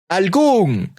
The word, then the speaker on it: algún: If a word ends with a vowel, an N, or S, and is stressed in the final syllable, it requires an orthographic accent.